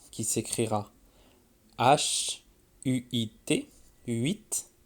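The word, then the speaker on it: huit: 8. Le H, on ne l'entend presque pas, comme par exemple les 8 lapins.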